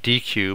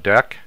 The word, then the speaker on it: deque: to cover what a deck is it looks like DQ but it's actually pronounced deck so DAC also known